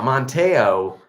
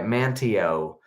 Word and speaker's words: Manteo: Now, Monteo, am I pronouncing that right? Manteo.